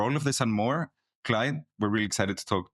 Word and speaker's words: Klajd: with po system so my name is Clyde as you rightly pronounced Clyde I am um